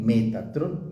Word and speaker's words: Metatrón: Metatrón, ¿sí?